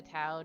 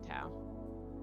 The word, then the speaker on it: Tau: You know, it says pronunciation is Toe, but that sounds weird. So I'm going to call them Tau.